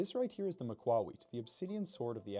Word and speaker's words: macuahuitl: Well, it's not pronounced the macuahuitl. That's stupid. It's a Nahuatl word and you pronounce it macuahuitl.